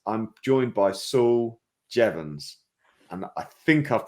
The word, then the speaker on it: Jeavons: moment ago so it's I'm joined by Saul jevans and I think I've pronounced it I've got a thumbs up on